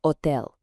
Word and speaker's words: hotel: But remember our rule about the silent H, so it's pronounced hotel.